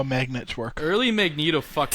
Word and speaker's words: Magneto: yeah no it is written magnetto but it's pronounced Magneto okay sorry Magneto then comes to realize that